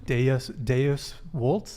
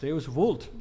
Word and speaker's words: Deus vult: So you speaking don't of Latin, Deus Vult? Deus vult. Deus- Don't pronounce all the moderns want to do it the German way, but you got to do it like a good Italian.